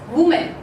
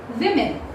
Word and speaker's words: women: So when we pronounce this word as a whole, okay? So what happens is that we pronounce it as woman. Woman. Okay? But this pronunciation, people, goes wrong, and the correct pronunciation goes in this way. It's women. How does it go? Women. This E sound gets converted into I sound, and the O sound in WO gets converted into E sound.